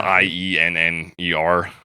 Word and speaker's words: Ienner: I'm assuming it's pronounced Yenner. Yeah, it's Ienner.